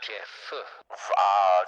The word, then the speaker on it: Jeb: Spelled Jeb, but it's pronounced Jeff.